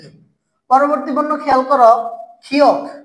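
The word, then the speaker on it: 키읔: পরবর্তী বর্ণ খেয়াল করো, ক্ষিয়ক। কি বর্ণ আছে? ক্ষিয়ক। তাহলে শব্দের প্রথমে যদি ক্ষিয়ক বসাই তাহলে খ উচ্চারণ হবে, মাঝে বা শেষে বসাইলেও খ উচ্চারণ হবে, নিচে বসাইলে ক উচ্চারিত হবে।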